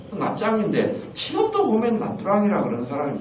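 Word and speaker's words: Nha Trang: 낫드랑. 근데 그게 사실은 틀린 겁니다. 낫짱입니다. TR을 붙여가 쓰로 발음하거든. 쌍지에서. 낫짱인데 지금도 보면 낫드랑이라 그러는 사람이 굉장히 많아요.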